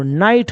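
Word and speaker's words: night: है अब यहां देखिए आई के बाद जीएसटी तो जीएस को तो बोलना नहीं है एन का आई जो है स उच्चारण हो जाएगा आई तो एन आ न जोड़ आई तो नाई हो जाएगा जीएच नहीं बोलना है तो टी को क्या बोलेंगे ट तो नाइट हो जाएगा तो ऐसे अगर आप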